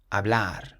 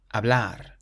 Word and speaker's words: hablar: The same with this next word, it ends in an R, so again we emphasize the end, hablar, hablar.